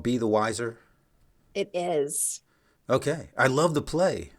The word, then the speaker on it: Weiser: ago, my last name is Weiser, spelled w e i s e r, and my father told me many years ago that I'm never going to win. I'm either People are either going to mispronounce my name or they're going to misspell it. And so, rather than having it misspelled, which it's still done because people think it's spelled w i s e r, I went with the pronunciation.